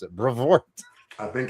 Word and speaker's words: Brevoort: That's how I'm going to pronounce it. Brevoort.